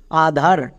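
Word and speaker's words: Aadhar: যেমন এখানে দেখো ডবল এ আছে, আর ডবল এ থাকলে আকার সাউন্ড করবা, ডিএইচ এর জন্য থো। নেক্সট আবার ডবল এ মানে আবার ব্লেন্ডিং ওয়ার্ড, এর জন্য কি হবে? আবার আকার সাউন্ড। নেক্সট তারপরে চলে আসো একদম শেষে আর এর জন্য রো। এবার একসঙ্গে উচ্চারণ করো আধার।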